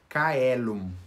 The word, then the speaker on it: caelum: de cristo eles realmente a letra c era anunciado como um carro e não como iminente como a gente faz por exemplo chelo então para produzir é